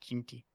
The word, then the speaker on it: Jeanty: Like I guess there's the Ashton Jeanty thing. Why'd I say it like that? Jeanty.